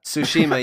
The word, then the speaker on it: Tsushima: before we hit topic of the week we pronounce that Tsushima yeah it society FEMA no Tsushima yeah yeah